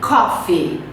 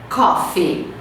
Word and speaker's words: coffee: Coffee, tem que falar o F, coffee, coffee, com acento, né, com a sílaba forte na primeira.